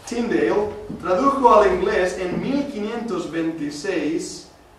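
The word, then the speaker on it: Tyndale: pero no solamente eso tinda de lo pronuncio bien ahora tindale tradujo al inglés en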